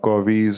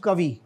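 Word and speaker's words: Covey: इसको सोनी पप स्टीव कवि कवि जस्ट लाइक अवर एक्टर कवि कोवी नहीं हैय कवि है हैव यू रेड स्टीव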